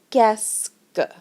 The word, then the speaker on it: qu'est-ce que: with est-ce que, and it sounds like qu'est-ce que. Qu'est-ce que. So even though there's all these words in here and it looks really long, it's actually 2 syllables.